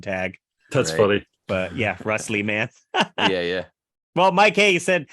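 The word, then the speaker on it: Russ Lieman: people can't find it I put Russ l-i-e-m-a-n like live man in case they can't spell it so that often comes up in tag that's funny but yeah wrestleman yeah yeah well Mike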